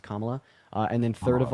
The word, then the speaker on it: Kamala: then second of all her name is pronounced kamla uh and then third